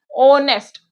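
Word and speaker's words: honest: क्योंकि मैं इसे जो प्रोनाउंसिएट कर रही हूँ ओनेस्ट, ओनेस्ट, तो यहाँ पे ये जो एच है तो साइलेंट हो गया, तो इसीलिए इसके सामने एन लगेगा।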